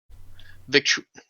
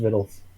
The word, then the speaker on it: victuals: Victu, whatever. It's I pronounced won't- Vittles. Yeah. It's straight up pronounced Vittles.